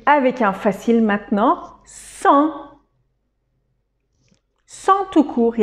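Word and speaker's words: cent: un facile maintenant sans Sans tout court, il y a pas S, il y a il y a rien. 100. Le T ne se prononce pas sans Maintenant une règle très importante.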